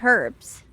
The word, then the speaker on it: herbs: That's how I got so good at picking out the right herbs. Herbs, not, I don't pronounce the H.